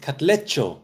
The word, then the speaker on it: Katlego: BMXer says to Katlego, pronounced Katlecho.